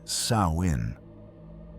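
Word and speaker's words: Samhain: They call it Samhine, pronounced Sawin, and it's the most terrifying night of the year.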